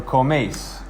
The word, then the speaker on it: coméis: So coméis. Notice here the accent is on the E. And so you're accenting this vowel because you're not trying to separate the second one. Coméis. It is 1 syllable.